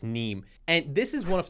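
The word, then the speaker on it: Nîmes: the equation for success the street is neem if i pronounce it correctly it's n-i-m-e-s but i think pronounced neem and this is one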